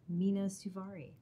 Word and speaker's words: Mena Suvari: okay no um yeah mina suvari yeah no i'm kidding it's a very it's a weird one i technically have an umlaut over the u so wow i've been